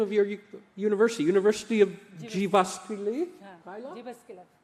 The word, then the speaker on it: Jyväskylä: And I cannot pronounce the name of your university. University of Jyväskylä? Jyväskylä.